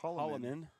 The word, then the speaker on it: Holloman: We have a guy on our basketball team, Holloman as well. Spelled a little different, but pronounced pretty much the same here.